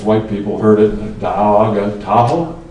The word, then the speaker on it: Tahoe: people heard it, Da'auaga, Tahoe? Tahoe rhymes with Washoe, and that's kind of how it got started.